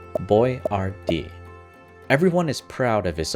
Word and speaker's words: Boiardi: American customers and salesmen couldn't pronounce Boiardi. So Ettore changed the spelling to one that customers could sound out, Boyardee.